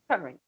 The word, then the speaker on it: Corinth: pronounce this? Corinth. Corinth. Corinth. Corinth.